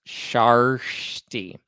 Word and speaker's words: Kjersti: It's spelled Kjersti. And people are saying that it's pronounced Sharshti.